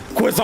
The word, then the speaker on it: croissant: mad at the way people pronounce croissant in America like hey would you like a croissant yeah I would love a croissant and the French are like a qu oh oh you stupid American quison all right [